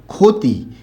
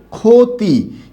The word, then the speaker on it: ক্ষতি: আবার এখানে ক্ষতি, এখানে পরবর্তী বর্ণে রস্বইকার থাকার কারণে খ হবে, ঠিক আছে, কিন্তু ক্ষয়ে ওকার হবে।